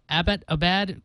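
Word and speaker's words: Abbottabad: surprised Tom couldn't pronounce Abbot Abad correctly see even I can't do it the city was named after a British major Abbot so it's pronunciation is simple Abbot Abad Abbot Abad there you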